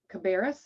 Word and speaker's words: Cabarrus: what what does uh cabarrus is that how you pronounce it or yeah you're you're saying it right okay so cabarrus county